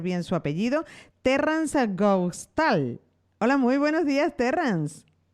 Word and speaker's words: Hoogstoel: pronunciado bien el apellido ox tool octubre es de origen holandés entonces por eso las letras las vocales no se conocían igual que en español y en francés entonces mi mamá y